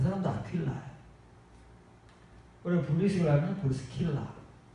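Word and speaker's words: Aquila: 원래 본명이 아퀴일라예요. 아퀴일라. 영어 성경도 사람들 이름이니까 그대로 따서 아퀴일라 그 철자 발음으로 사용합니다. 우리도 그래야 돼요. 사실은 이름을 막 우리 거로 바꿔서 이런 사람들은 존재하지 않아요. 아퀴일라는 존재했지만 아굴라는 없어요.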